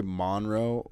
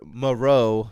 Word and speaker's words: Moreau: moreover yeah i always want to say monroe but then i know that's not what that says foster monroe yeah monroe it's not there's no end so it's like definitely anyways anyways yeah so foster moreau that's how you say it um you know